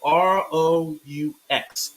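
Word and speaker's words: Roux: That's spelled R-O-U-X, Ro.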